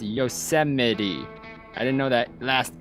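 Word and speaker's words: Yosemite: of thing when I was younger I always pronounced y yosmite or yite I don't know why but that's how I saw I didn't know was pronounced yosity I didn't know that last e was a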